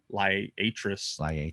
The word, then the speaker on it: Liatris spicata: And so that's some of it's like, I say Liatris spicata, but then some say Liatris.